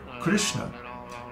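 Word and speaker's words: कृष्ण: Similarly, the word Krishna is only 2 padas long, because each of the vowels in Krishna is a short pada, a short syllable. Krishna.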